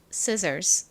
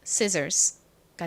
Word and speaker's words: scissors: 아니라 두 개니까 복수형으로 S 붙여 줍니다 그래서 발음해 보면 scissors scissors가 됩니다 자 발음해 볼게요 scissors 가위 scissors 좋습니다